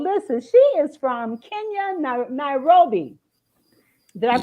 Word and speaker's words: Nairobi: Well, listen, she is from Kenya, Nairobi. Did I pronounce that right? Nairobi. Okay. Nairobi.